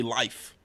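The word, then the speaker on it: Lyfe: Party Life. You know, you gotta say it like life, you know? It's got the L-Y-F-E's.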